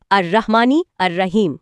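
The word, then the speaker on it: الرحمن الرحيم: আয়াতটি হল রাহমানের রাহিম। সঠিক উচ্চারণে আর রাহমানি আর রাহিম আচ্ছা আর এর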